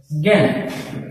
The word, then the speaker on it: জ্ঞান: দেখো, যদি আমি লিখি জ্ঞান, এটার উচ্চারণ হচ্ছে জ্ঞান। এখানে দেখো এই আকারটা এই আয়ের মতো উচ্চারণ হচ্ছে। আশা করি তোমরা বুঝতে পারছো বিষয়টা। জ ফলাযুক্ত বর্ণের ক্ষেত্র এমন হবে, যেমন আমি যদি লিখি ব্যাকরণ, এখানে যে আটা আছে এই আটাও এর মতো উচ্চারণ হবে, ব্যাকরণ।